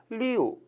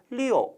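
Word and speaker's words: 六: 글자 있죠 발음 중요합니다 리우 라고 발음하는 것이 아니라 리오 약간 5 발음이 들리죠 발음 해 주셔야 되구요 중국사업 이 두 않은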